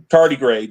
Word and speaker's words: tardigrade: And he's actually a u a tardigrad. I think that's how you pronounce it. In a suit. Tardigrade in a mech suit. Tardy grade. Yeah, that's how you pronounce it.